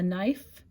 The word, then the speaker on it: knife: toothbrush, a screwdriver, a knife, and a clothespin. Knife is a tricky word. That K is silent.